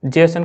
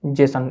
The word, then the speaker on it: JSON: transmitting करने के लिए जेसन का फुल फॉर्म जो होता है वो जावास्क्रिप्ट ऑब्जेक्ट नोटेशन होता है और इसे प्रोनाउंस जो किया जाता है जेसन जेसन एक सिंपल फॉर्म में इसे जेसन बोला जाता है लेकिन इसका फुल